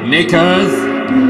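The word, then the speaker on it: knickers: meal another silent Kate nickers silent k silent P knife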